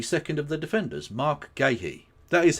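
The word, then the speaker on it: Guéhi: Mark Gahhee. That is how that's pronounced. spelled gu u e h i with an accent over the e, which is very weird, but we'll get to it. Anyway, Mark Ghee, a fine central defender in his own right,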